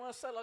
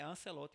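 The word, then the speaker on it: Ancelotti: Ancelot maior que ele não. Todo mundo pronunciava Ancelot, pensando que o italiano era assim, mas segundo o pessoal divulgou aí, o nome é Ancelote mesmo.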